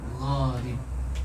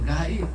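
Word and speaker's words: غريب: Tahsin dua mengenai bacaan gharib. Kad bukan gaib. Gib.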